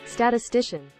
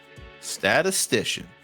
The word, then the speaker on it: statistician: do that or something I want to know pronunciation statistician statistician there it is there you heard it statistician